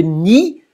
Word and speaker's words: nid: En I, elle est intéressante aussi parce que ni se termine par D, mais on ne prononce pas, et donc on peut rimer avec garni.